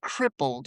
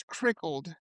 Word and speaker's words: crippled: He said crippled, okay? I pronounced it as crickled.